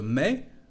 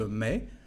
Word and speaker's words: mets: Je mets. Como lo pueden escuchar, no se pronuncia la parte final de este verbo. Je mets, tu mets.